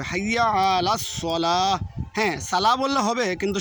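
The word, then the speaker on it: حي على الصلاة: রাসুলুল্লাহ তারপরে অনেকে বলে হাইয়া আলাস সালা হাইয়ালা হাইয়া লাস সালা এখানে হবে হাইয়া হাইয়া আইন উচ্চারণ করতে হবে হাইয়া আলাস সালা হ্যাঁ সালা বললে হবে কিন্তু শুদ্ধ হচ্ছে হাইয়া আলাস সালা তারপরে হাইয়া অনেকে বলে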